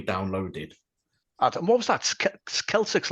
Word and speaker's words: Celtx: Celtics, like the word, like the Celtic football team.